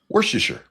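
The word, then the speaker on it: Worcester: Worcer. Whatever. It's easy to pronounce if you understand how the English don't pronounce anything worth this I think I have too many teeth.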